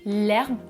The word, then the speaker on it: herbe: Je vais dire l'herbe avec une élision et je vais dire au pluriel les herbes.